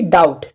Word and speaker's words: doubt: ठीक है, डाउट, तो DOUBT, डाउट। ठीक है, तो यहाँ पर भी देखें बी के बाद में क्या है, टी, तो यहाँ पर बी क्या है, बी हो जाएगा साइलेंट।